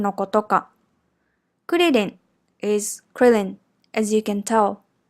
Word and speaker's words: クリリン: as you can tell be careful when you pronounce that are sound in japanese the tip of your tongue lightly touches or flaps the gums behind the back of the front teeth this is closer to the sound of T or L